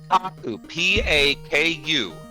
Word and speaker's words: paku: across the street p-a-k-u paw not puck pop coupon like I thought which means Chomp